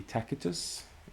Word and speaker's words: Tacitus: And moving on, we have Tacitus, or should it be Tacitus, if you follow the pronunciation of the hard C there.